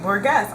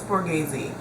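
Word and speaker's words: Borghese: it is about me is saying Borgess I know it's boresi I think it's the way it's spelled but usually that doesn't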